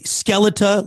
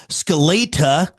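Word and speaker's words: Skeletá: Some may say Skeleta, like skeleton, but it's got that acute little accent above the A. So I also saw Skeleta, like the Russian way, or Skelena.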